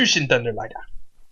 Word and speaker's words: Jushin Thunder Liger: Jushin Thunder Liger.